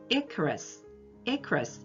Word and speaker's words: Icarus: 이카루스 신화를 얘기를 하는데 우리는 이카루스라고 읽지만 영어로는 Icarus 이렇게 읽는다는 거 알아두세요.